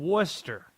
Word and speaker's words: Worcester: How about we go to Susan, who's in Worcester? I nailed that, right? That's the proper pronunciation.